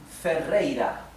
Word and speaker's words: Ferreira: This last R is not doubled and is in the middle of the word. Therefore it is pronounced R, right? The soft sound, ra, ra, ra. So this is Ferreira. Let me separate in syllables. Ro, dri, go. Fe, rei, ra.